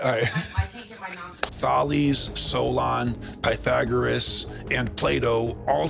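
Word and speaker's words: Thales: great mystery School how do you say it thees but say it again to me I might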